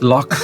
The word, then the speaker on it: loch: there's a lake uh lakes in scotland and ireland are called locks yeah um and it's a slightly different spelling in ireland to scotland but anyway all right it's the same pronunciation so loch ness is a lake